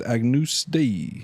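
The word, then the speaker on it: Agnus Dei: you with some like Agnes Day it's pronounced Agnus day I spoke a lot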